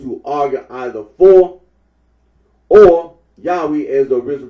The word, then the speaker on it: Yahweh: of those who regard this name as anciently pronounced Yahweh, like the Samaritans.